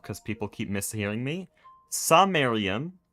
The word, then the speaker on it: Samarium: Samarium is the lanthanide, okay? That's what we're making for motors. It's ferromagnetic. That's the thing we want. Sonarium, that's how I pronounce it. The R is the main distinction.